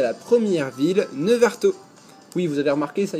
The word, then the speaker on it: Neuvartault: Et ben nous voilà arrivés à la première ville, Nevarto. Oui, vous avez remarqué, ça y est, j'ai réussi enfin à prononcer correctement cette ville.